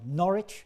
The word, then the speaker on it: Norwich: We have Norwich, or Norwich, as it's pronounced in England, it's up there.